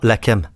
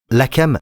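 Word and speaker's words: לחם: Le mot combattre est le mot lakam. Lakam. Je vais vous montrer le mot lakam. Lakam s'écrit comme suit. De droite à gauche, c'est de l'hébreu. Lamet, het, mem.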